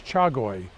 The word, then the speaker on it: chagoi: was one particular variety of koi known as chagoi at CH a GOI CH a cha is